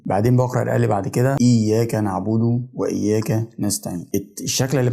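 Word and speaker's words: إياك: حرفين مش حرف واحد طيب ازاي بقول اياك اياك لو خدت بالك انا تقلت شويه على حرف الياء اظهرتو شويه شددته شديته كانه حرفين فهو اياك ماقولش اياك اياك اياك انا كده نطقت الشده صح واديت الحرف حقه في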